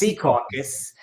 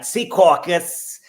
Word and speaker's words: Secaucus: Not Secaucus. It's Secaucus. And you got to say it like that. Secaucus.